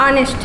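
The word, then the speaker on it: honest: क्योंकि जब हम इसका प्रोनाउंसिएशन करते हैं तो ये कैसा साउंड करता है, ऑनेस्ट होता है, ठीक है। इसको हम लोग ऑनेस्ट बोलते हैं।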